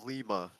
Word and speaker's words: Lima: Okay, Zachary, is it Lima or Lima? It's Lima, I said it right.